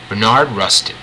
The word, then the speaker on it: Bayard Rustin: Bayard Rustin. It's spelled B-A-Y-A-R-D.